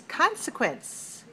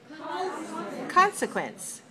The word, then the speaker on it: consequence: the next word it's consequence consequence consequence three syllables stress the first one right consequence is a